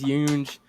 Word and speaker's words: Younge: Today, I am excited to announce that I have James Younge joining us on the J.A.T side today. James Younge is insane. It's James Young.